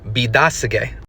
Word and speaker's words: Biidaasige: The Ojibwe pronunciation of Petoskey is Bidasege.